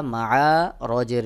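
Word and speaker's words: معارج: তারপর মিম জবর মা, আইন আলিফ জবর আ, মা আ, র জের রি, জিম দুই জের জিন, মা আ রি জিন রয়েছে। থেমে গেলে জিমের নিচেই দুই জের এটা সাকিন হয়ে যাবে, তখন উচ্চারণ হবে মাআরিজ, মাআরিজ।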